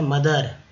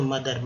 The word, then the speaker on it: mother: उसके बाद देखिए माँ है, मदर, तो ये हो गया MOTHER, दर, तो ओ का उच्चारण यहाँ भी अ के रूप में किया जाता है, तो मदर।